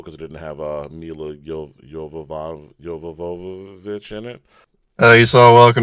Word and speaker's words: Jovovich: It's Jovovich, and goddammit, you say it right because she is too hot for you to say it wrong.